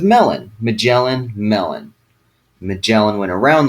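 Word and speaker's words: Magellan: Picking up with Ferdinand Mellin right where we left off. Two things um I want to point out. First, some teachers like to show that Ferdinand Mellin's name um rhymes with melon.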